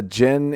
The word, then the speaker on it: djinn: There's another term for it, but I don't know djinn, what it is. Right? Djinn? A djinn? Is that right? I think so. It's spelled DGINN, but I think the D is silent.